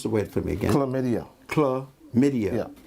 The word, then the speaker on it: chlamydia: Now, pronounce the word for me again. Chlamydia.